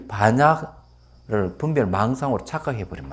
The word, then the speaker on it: 반야: 해를 갖다가 빤야라 그러죠. 빤야라는데 발음을 이제 하면 그냥 반야라는 발음을 하는데 이 안에 사전을 찾아보시면 아시겠지만 해락하는 걸 분석이라는 분별의 의미가 들어가 있어요. 그럼 잘못해가지고 이 반야를 분별 망상으로 착각해버리면 안 되는 거죠.